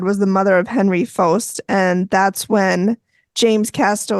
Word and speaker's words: Pfost: Faust. Oh, it sounded like they kept Post, putting yeah. a G in It was with it. PFOST, but Yeah. they pronounced it like Faust.